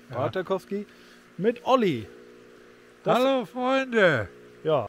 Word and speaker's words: Partakoski: Wir treffen uns in Suomenniemi und Partakoski, zwei kleinen Orten in Südkarelien, die sich durch ihre einzigartige Schönheit und Geschichte auszeichnen.